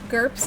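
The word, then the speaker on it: GURPS: to say that now gerps is a tabletop RPG system that is approximate rhyme with girth Oh I thought it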